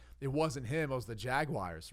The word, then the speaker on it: Jaguar: and sell this Ryan how do you say Jaguar I apologize Bertie I say Jaguar Jaguar okay right right actually pronounces Jaguar right drives a hybrid Jaguar